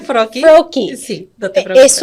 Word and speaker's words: Froelke: Fruki, Yeah, did I say it right? Froki. Froki.